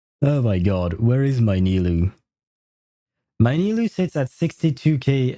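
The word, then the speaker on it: Nilou: Because the way it's written in the game, N-I-L-O-U, it is the way a French person would write it.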